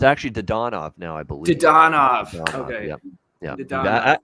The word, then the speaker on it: Dadonov: The only thing that I would bet would be Dadonov to score.